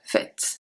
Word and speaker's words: faite: We don't pronounce the E, we do pronounce the T.